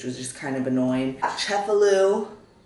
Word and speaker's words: Cefalù: just kind of annoying chefalu I need to make sure I'm saying that right chefalu kind of I I think I was saying it right but my accent was off um I'm really struggling